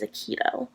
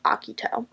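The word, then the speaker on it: Akito: of the 2001 version I was led to believe that he pronounced Iquitos name as a Kido but the original anime got that wrong because I went back and watched the Japanese version of the original anime and in that version they pronounced aki toes name as akuto so 2001 English dub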